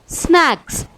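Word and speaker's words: snacks: For example स्नैक्स। यहाँ पे के पहले सी आ रहा है, इसीलिए सी साइलेंट है।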